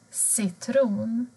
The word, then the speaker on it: citron: Bokstaven C låter normalt som S. Till exempel citron, cykel.